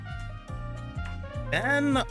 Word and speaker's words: Van: Van. The name's Van. Van. At least the pronunciation for Van is always gonna be as what it says on the screen. No apostrophes, just straight up Van.